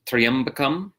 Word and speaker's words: tryaṃbakaṃ: So the first word is tryaṃbakaṃ. Tryaṃbakaṃ is the correct pronunciation, not tryaṃbakaṃ. So it's tryaṃbakaṃ like a tree. Think of a tree, you know, like a tall wooden plant, not tri. So tryaṃbakaṃ, the three-eyed Lord.